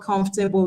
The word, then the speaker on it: comfortable: Comfortable has only 3 syllables. You have to be careful.